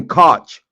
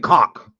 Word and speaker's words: Koch: You can't even say Koch. You was calling it cock.